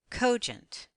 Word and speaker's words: cogent: is a closed syllable the vowel is short most words with two syllables will accent on the first syllable let's blend the two syllables together accenting the first syllable the word is cogent let's look back at